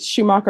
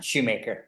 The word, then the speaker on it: Schumacher: Is it Schumacher or Shoemaker? Shoemaker. All right. You're Mr. Shoemaker.